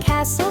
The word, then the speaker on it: castle: Listen close and castle strong, the T is there but doesn't belong.